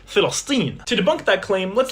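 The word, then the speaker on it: فلسطين: You see, in Arabic, there is no letter P. They pronounce it Filastin.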